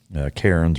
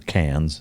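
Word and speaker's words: Cairns: to the Gold Coast to where kons or cans the way they pronounce it um and uh yeah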